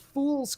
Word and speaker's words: Phule: There's this sort of comedy sci-fi series called Fool's Company, and it's spelled Phule because the main character is named Willard Fool, and his father owns foolproof munitions.